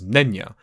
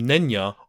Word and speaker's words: Nenya: The second ring was Nenya, and it was made of mithril.